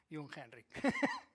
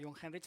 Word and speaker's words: Jungheinrich: Entonces, si lo decimos rápido, John Henry, pues ya está. Ya sabemos pronunciar Jungheinrich. Bueno, como ahora ya nos conocemos y ya sabemos pronunciar Jungheinrich, me gustaría avanzar en esta conferencia.